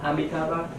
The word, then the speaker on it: Amitabha: Amitabha.